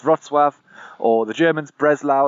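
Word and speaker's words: Wrocław: but one of the names it's not is Wroclaw which is how a lot of English speakers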